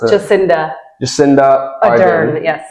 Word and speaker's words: Ardern: Zealand's former Prime Minister, Dame, how do I pronounce it? Jacinda Ardern. Yes. Ardern.